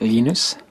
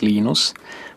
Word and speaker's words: Linus: Um, when I speak Swedish, it's Linus. When I speak Finnish, it's Lenos. When I speak English, it's Linus.